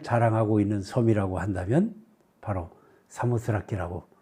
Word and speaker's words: 사모스라키: 가리켜서 이제 스라키 지역 그렇게 얘기를 하고 그거를 사모스라키라고 읽는데 그 말을 이제 에라스무스적인 헬라어를 사용하면서 우리가 사모드라게 이렇게 표시하고 읽게 된 거죠.